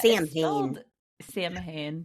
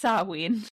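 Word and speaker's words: Samhain: sa I think I've heard that before yeah samahan but it's pronounced saween I didn't know that yeah yeah so that's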